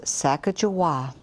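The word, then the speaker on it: Sacajawea: about an indian girl she has a fancy name sack a jawah you say it like this sacajawa miss glass has thrilling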